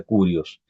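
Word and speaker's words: κύριος: es en el griego es kirios se pronuncia curios que es un término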